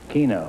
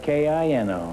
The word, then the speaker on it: Kino: How do you pronounce it? Oh, just like the game. What game? Winklepleck? Keno. Keno, huh? And you spell it K-I-N-O, huh? Right. Why don't you call it Kino? Because Keno is K-E-N-O, isn't it?